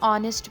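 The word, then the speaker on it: honest: और एन ऑनेस्ट मैन को भी प्रोनाउंस करते हुए यह ओ का साउंड दे रहा है।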